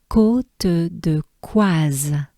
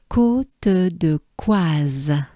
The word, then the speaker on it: Côte de Coise: So as a whole, we have Côte de Coise. Let's take a good breath together. Côte de Coise.